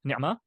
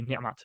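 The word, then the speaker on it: نعمة: So it'll be in a pausal form, it'll be pronounced as a H, right? Ni'mah, but then in context, it'll be ni'mat, right?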